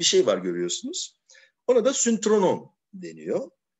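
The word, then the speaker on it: synthronon: Ona da syntronon deniyor. Ben ona syntronon diyordum. Meğer Yunanca'da S'den sonraki Y, Ü okunuyormuş. Syntronon. Yani birlikte oturdukları yer.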